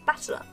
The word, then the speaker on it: Battler: That is made up of the characters for fight and person, and it's pronounced battler.